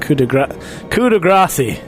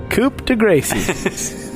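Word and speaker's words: coup de grâce: edition so could aggress coup de grace I believe coup de grace coop coop to Gracie pronounced like grass pretty much yeah well that's what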